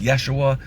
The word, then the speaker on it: Yeshua: of discussion here, because people will say his name wasn't Jesus because there were no vowels and it was pronounced Yeshua, right? Yeshua, some people think that's significant.